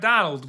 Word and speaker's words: Domhnall: name and he said it's like tonal but with a d and he says that